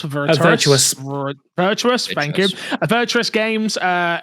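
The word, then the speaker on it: Virtuos: The other rumor out there, I'm going to say the studio name wrong, but is it V Vtorus? Verus Virtuous, thank you.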